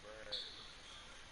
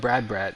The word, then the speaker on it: Brad: All right, so this guy Brad, is that his name? B Rad, B Brad. Yeah, B Rad, Brad? B Rad, Brad. Oh, Brad. So his name is Brad. It's spelled BHE as in B, RAD as in Rad, Brad, BRAD.